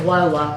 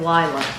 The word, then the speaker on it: Lola: Every time I say her name, I don't know why I think of that, because we all know it's Lola, but I think of Lila.